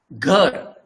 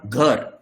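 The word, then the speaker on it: घर: And this symbol to be pronounced as you pronounce in English. Around. Around. I've underlined letter A. What is the pronunciation of this underlined A? That is A. Something, I don't say exact, but very close to that.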